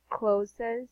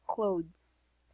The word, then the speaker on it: clothes: this, it's not clothes, it's actually clothes. Yeah, clothes. There you go. Clothes. All right. So there. Do you have any other questions? No. Clothes. This is how you pronounce it. So it's like with Mm-hmm. Z.